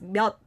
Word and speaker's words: 몇: So even though it ends with the last consonant chiot, we don't pronounce it as chiot, but we pronounce it as 몇.